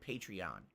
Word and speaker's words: Patreon: I guess they actually pronounce it Patreon, even though it makes no sense.